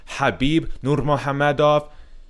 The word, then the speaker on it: Khabib Nurmagomedov: UFC makes it official Habib Norma Hamid off and that's actually how you pronounce his name well you know to